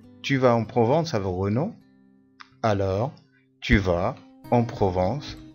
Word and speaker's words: Renaud: J'aime beaucoup la Provence et la marche, mais Renaud, L-A-U تنطق O, mais Renaud n'est pas très sympathique.